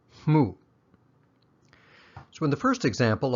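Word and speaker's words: မှု: a verb or adjective into a noun it's pronounced mu so in the first example i'll use the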